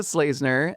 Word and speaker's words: Schlesener: So, so I am Slazner. Um, you may know me from Dog Park Mondays. Uh, my last name is spelled S C H L E S E N E R.